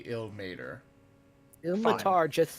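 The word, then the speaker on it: Ilmater: I don't really know no actually I like itll Matar better than ill mater probably right I believe it is technically ill mater the car just sounds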